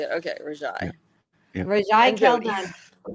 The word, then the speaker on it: Rajai: Okay, Rajai.